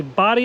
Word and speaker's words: Bodie: lighthouses today we cover the body island lighthouse which you'll see that is the correct way to pronounce it we learn that and